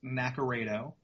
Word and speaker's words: Naccarato: Yeah, it's pronounced Naccarato. That's the Americanized pronunciation of it. It's Italian, so it's pronounced differently over in Europe. But yeah, my name's Naccarato.